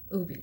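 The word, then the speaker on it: Ubhi: this from nina ooby that's how you pronounce her last name ooby she is marvelous and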